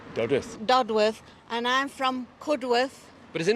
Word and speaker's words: Cudworth: telling me doddworth goddess dudworth and I'm from cudworth but is it not good and it's not